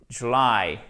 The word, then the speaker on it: July: July. Et vous faites traîner la fin du mot, puisque l'accentuation, elle se trouve sur cette seconde syllabe.